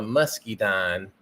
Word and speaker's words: muscadine: but it's called a muscadine and actually here it's called a Musky dine they call it a Musky dine but it's spelled muscadine it's a it's a